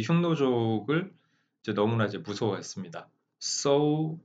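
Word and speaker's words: 匈奴: as 샹누 이렇게 흉노입니다. 이제 샹누 하면은 이제 지금 현재의 중국어 발음으로 읽은 거고 우리말로 하면 흉노입니다. 흉노.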